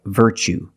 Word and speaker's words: virtue: word what's the pronunciation you see t-u-e as the second syllable so the t is pronounced like chicken so what's the pronunciation that's right virtue what is a virtue